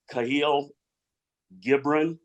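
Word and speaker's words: Kahlil Gibran: Bucks got to stop here the quote by cahil gibron that's a correct pronunciation is exactly why this new board is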